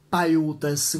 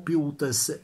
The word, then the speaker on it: Paiutes: con un punto esclamativo, Paiutes o Piutes? Non sono sicuro della pronuncia, credo Paiutes, ma non ci scommetterei la vita, non sono andato su Google per controllare la pronuncia esatta, ma in ogni caso, è di poca importanza.